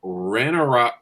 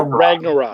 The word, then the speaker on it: Ragnarok: about best single sports ran a rock ran a rock how would you say that right ragnarok ragnarok oh that's how that's spelled all